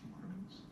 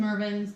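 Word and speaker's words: Mervyn's: Marvin's, was it pronounced Marvin's? No, I think there's a Marvin's also, Maybe. but that's It different. was Mervin's.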